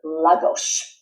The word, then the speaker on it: Lagos: Another place we're going to talk about is Lagos, and that's the way it's pronounced. It's not the way it's written.